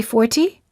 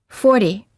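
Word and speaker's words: forty: We don't say 40, we say 40.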